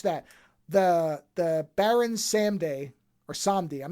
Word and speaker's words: Samedi: The Baron Samedi or Samdi. I'm not sure how you're supposed to pronounce it because I said it both ways in the movie. Okay, it's Baron Samedi.